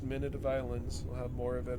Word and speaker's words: Minute of Islands: now that i know how to it is pronounced minute of islands we'll have more of it on friday and